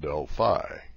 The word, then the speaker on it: Delphi: Is it Delphi or Delphi? Well, I fell into the Delphi camp myself until my boss heard me pronounce it and corrected me. It's pronounced Delphi, he said.